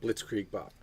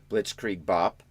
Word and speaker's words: Blitzkrieg Bop: Blitzkrieg Bop. Blitzkrieg Bop.